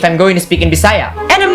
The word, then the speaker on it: Bisaya: example the word bayah we don't pronounce it as by as in by anual or say as in say and then the just yeah we pronounce it as B sa we don't say by say we pronounce it as bisaya the ya on the end has a stress like y knowing these easy rules